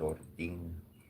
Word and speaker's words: Odin: It's actually pretty interesting because many of my workings, like in many of my studies, I find that Odin, I pronounce his name as Odin.